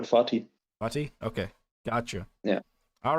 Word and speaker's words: Fatih: Is that how you pronounce that? Fatih. It's called Fatih.